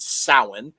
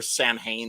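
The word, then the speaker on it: Samhain: at how Americans uh celebrate sa as it's called or Sam Haye as it's spelled uh and uh creates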